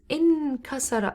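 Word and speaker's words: انكسر: verb we have is in kasara and it rhymes with infall and that's form seven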